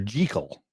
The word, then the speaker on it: Jekyll: Jekyll's name is pronounced correctly, Dr. Jekyll.